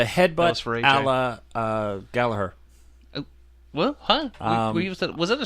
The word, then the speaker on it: Gallagher: That's his You were saying Gallagher. That's it. It's his name. Gallagher. It's Gallagher. It's Gallagher. Gallagher. It's pronounced Gallagher.